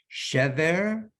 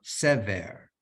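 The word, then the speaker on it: שבר: So that word could either be pronounced as shever or sever, and they mean different words.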